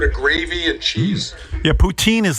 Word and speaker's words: poutine: How do you say Poutine? Poutin, right? Poutine.